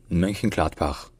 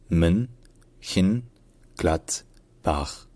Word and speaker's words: Mönchengladbach: Et donc, en allemand standard aujourd'hui, ça se dit Mönchengladbach. Mönchengladbach. Mönchengladbach. Alors, syllabe par syllabe. Déjà, on dit Mön. Je pense que ça, c'est pas du tout compliqué. C'est Mön.